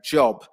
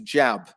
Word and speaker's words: job: an example here was when you were saying job and it sounded similar to jab so job jab yeah just that vowel sound